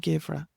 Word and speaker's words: Geimhreadh: And then we have Arroch, Saura, For, and Givra.